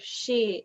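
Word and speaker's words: し: the word for four she is uh the same pronunciation as the character that they use for death so you know in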